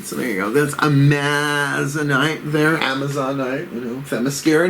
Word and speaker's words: Amazonite: This full to new Amazonite or Amazonite. I've heard it said both ways. I think Amazonite is the right way to say it, but, you know, don't clock me on that.